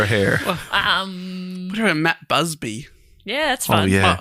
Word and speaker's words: Busby: And it's spelt Busby, but everyone, I watched a couple of documentaries, they're all calling him Busby, so I'm hoping I'm saying that right.